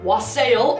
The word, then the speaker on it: wassail: is a mug of wassail, or wassail is the Americanized way of pronouncing it has sort of become.